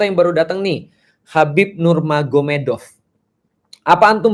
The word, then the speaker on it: Nurmagomedov: sana Muhammad jadi mahomed jadi tulisnya magomed Tapi bacanya mahomed kan gitu kan Ya jadi Nur magomedov itu jadi Nur mahomed Jadi maksudnya Nur Muhammad